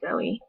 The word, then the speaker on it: Zoe: should be pronounced actually i'm supposed to like put two dots over the e and then it'd be zoey so everyone calls me